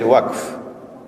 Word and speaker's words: waqf: Notice I said waqf, 1 syllable. That's the correct pronunciation, okay?